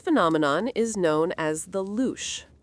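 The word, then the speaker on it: louche: This phenomenon is known as the luch, pronounced luch.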